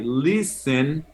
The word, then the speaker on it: listen: Y para decir qué tipo de música escuchas, me decís I listen to. Listen, se escribe listen, pero la T es muda.